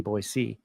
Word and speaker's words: Boise: my team is in boyy Idaho and you have to say it right not boy z boy c um I was with